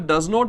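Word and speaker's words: doesn't: उसके बाद डज नॉट है गाइज, डज नॉट को हम बोलते हैं डजन, DZN. इसमें भी टी को प्रोनाउंस नहीं करना.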